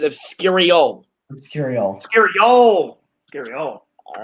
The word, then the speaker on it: Obscurial: Obscurian is incorrect. Very close. It is Obscurial.